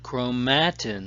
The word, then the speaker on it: chromatin: Chromatin is a complex of DNA and protein. Chromatin, some people pronounce it chromatin, and that's okay.